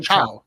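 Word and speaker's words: Thiaw: Right, um, and what Tiao, sorry, how do you say his name? Chow. Chow, like Chow.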